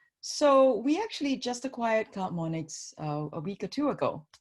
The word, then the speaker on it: CloudMonix: But a few months after you joined, I think you acquired CloudMonix. First of all, did I pronounce that correctly? Is it You CloudMonix? did. Yeah, Okay, all CloudMonix.